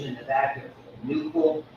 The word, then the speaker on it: nuchal: Here are a variety of ridges in the back of the nuchal. That's in the back of the neck, Nuchal, is the way to pronounce it.